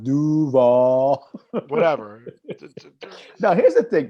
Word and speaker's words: Duval: nobody else worth watching it's pronounced duval whatever now here's the